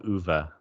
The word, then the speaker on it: Ove: Tell her to read A Man Called Uva. Read A Man Called Uva. It's spelled Okay, O-V-E.